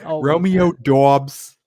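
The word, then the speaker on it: Doubs: with a Boston accent I always say it like that Romeo dos Romeo dos I feel like that's how it's pronounced is that not right no I mean it is it's just you gotta say with a Boston accent to get it right so I like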